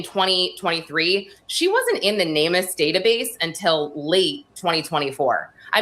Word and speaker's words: NamUs: The NamUs database, the the government missing persons database. Guys, Lauren is saying N A M U S. NamUs is the way it's pronounced, and it is a missing person database,